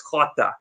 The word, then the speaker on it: Jota: I think that's how you pronounce it, Jota. Yeah. Because J's are pronounced with a H in Spanish. I know that it's Jota.